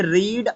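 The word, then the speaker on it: read: क्योंकि ध्यान दीजिए ये रीड आपका रीड होता है पढ़ना, वर्ब की फर्स्ट फॉर्म में रीड बोलेंगे, सेकंड फॉर्म में रेड बोलेंगे, स्पेलिंग वही रहेगी, थर्ड फॉर्म में भी रेड बोलेंगे लेकिन स्पेलिंग वही रहेगी।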